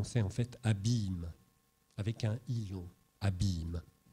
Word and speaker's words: abymes: qui indique en fait qu'on prononce abymes et pas abîme ça ça c'est ça